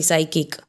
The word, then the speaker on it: psychic: यहाँ पे साइकिक के अंदर PSYCHIC. नाउ एस के पहले P है इसीलिए हमने उसको साइलेंट कर दिया. एंड H के बाद वॉवेल है इसीलिए हमने H को साइलेंट कर दिया. Okay, so वी can write over here that साइकिक में P साइलेंट होता है और वैसे ही साइकिक